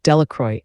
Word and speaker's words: Delacroix: Bobby and Harry Jones and Dickie Delacroix, the villagers pronounced this name, Delacroix, eventually made a great